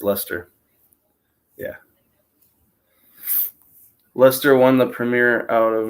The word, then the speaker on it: Leicester: okay because it looks like Leicester yeah I pronounce it like Chester that's oh that's what I've said it but it's luster yeah Lester won the Premiere out of nowhere a few